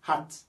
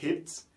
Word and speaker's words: hat: Par exemple, ici, pour dire H-A-T là, on prononce ça comme hat. We say hat. Pourquoi on dit hat? On ne dit pas hit.